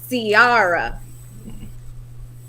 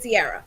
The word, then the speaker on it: Ciara: So everybody is talking about Ciara. That's how you say it. Ciara, yeah.